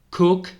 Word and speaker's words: cook: k architect Butcher batcher cook Cook veis que ahí la doble o suena como una u siempre Cook soy cocinero Soler